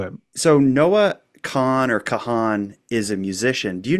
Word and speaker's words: Kahan: camera at the Noah Kahan concert, whoever that is. Is it Kahan or Kahn? It's spelled Kahan, K-A-H-A-N. I always thought it was pronounced Kahn, but we'll get 90 voicemails to correct us.